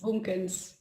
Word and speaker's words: Boomkens: Boomkens. Boomkens, yeah.